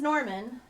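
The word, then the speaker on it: Gnorman: His name is Norman. Spelled with a G.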